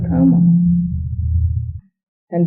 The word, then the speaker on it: karma: pronounce karma not Karma because in Sanskrit the r must be pronounced and if it is